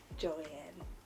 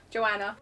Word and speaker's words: Joanna: Joanne. No, that's not my name. Joanna. She says it weirder than Americans say it. It's just different.